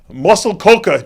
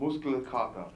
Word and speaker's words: Muskelkater: Now you're at the hopefully I'll pronounce this right, Muscle Coca gym in Munich, Germany, right? Almost. It's Muskelkater.